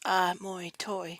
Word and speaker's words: Amoitoi: Having been living among the Cherokee for the last 5 years, they renamed themselves Elois and Amoitoi, pronounced Amoitoi with a short A sound, meaning coming from or originating from water.